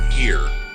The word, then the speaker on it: hir: It's Z in here. Z is spelled Z-E. Here is spelled H-I-R.